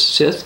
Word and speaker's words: Scyth: Webster's Dictionary says we're supposed to pronounce this Sith, but others would pronounce this Scot.